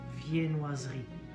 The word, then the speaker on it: viennoiserie: Viennoiserie. Viennoiserie. And same with the silent E. It's written Viennoiserie, but it's written, it's spelled.